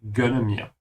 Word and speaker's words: gönne: And be careful with the G sound, it could easily sound like a K, because können means can.